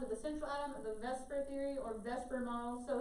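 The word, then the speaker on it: VSEPR: shell electron pair repulsion we just pronounce that vesper because it's a bunch of letters all together and it looks kind of like the word vespers doesn't come with that's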